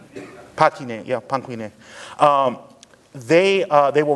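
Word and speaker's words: Panquinet: How do you spell it? Panku is P A N Q U I N E T. Panku. Pin. Yeah. Pangquin.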